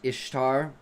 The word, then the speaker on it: Ishtar: The goddess Ishtar pronounced the same as Easter.